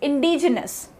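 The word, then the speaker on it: indigenous: दी आई जी आई एन ओ यू एस इंडीजीनस ठीक है vowels R D reduce next van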